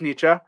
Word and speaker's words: Nietzsche: I mean, like for example, I know that you don't pronounce Nietzsche. I know it's Nietzsche, but I don't care.